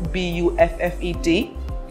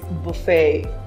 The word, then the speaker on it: buffet: It might be written as B-U-F-F-E-T, but the correct pronunciation is buffet.